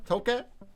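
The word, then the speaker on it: toque: tokay took a toke toke how do you say that it's like torque without the r toke that's what they're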